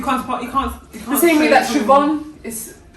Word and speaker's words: Siobhan: You know that one is Neve, and you know that other one is Siobhan.